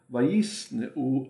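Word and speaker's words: וַיִּשְׂנְאוּ: Yisne'u means they hated, and pronunciation is yisne'u, because you have two schwas in a row. When that happens, the first one is what? Silent, and the second one is vocal.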